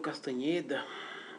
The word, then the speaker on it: Castaneda: pessoal falar hoje de Castaneda né Castaneda ou castanheda Depende de como você queira pronunciar Carlos castanheda e a